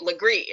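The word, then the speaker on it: Legare: way like I just I don't even understand it's spelled le GA re and just say it Legree and there's I don't know whatever anyway so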